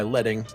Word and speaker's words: leading: The client said my leading, yes, that's how it's pronounced, was too tight for my text.